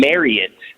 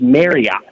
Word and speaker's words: Marriott: I think it's Marriott. Here's the deal on this. That is not correct. I Are actually you watched. sure? I watched a video today, which is why I'm doing this, of somebody saying that it's pronounced Marriott, not Marriott. Now, I am also working